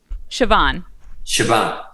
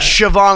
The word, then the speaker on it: Siobhán: the proper your pronunciation siobhan yeah okay like siobhan like s-h-a-v as in victor a-n over a b it's a it's a